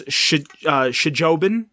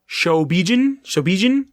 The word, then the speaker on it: Shobijin: I had no clue that they were even referred to as Shijobin. Shobijin. We should really get, like, a pronunciation guide.